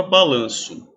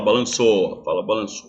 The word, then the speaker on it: balanço: s É pronunciado sim esse som de ou é pronunciado com som de u né ou a letra ninguém fala balançou certo então vamos lá